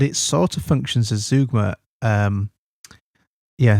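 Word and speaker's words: zeugma: Um yeah zugma rather than zoma. I I checked the pronunciation of that um recently cuz someone challenged me on it. I thought I better check that. So it turns out it's zugma.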